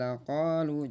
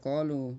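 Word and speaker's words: لَقَالُوا: kalau lam itu a'jamiyal laqalu, jangan a'jamiyal qalu, tapi laqalu ya.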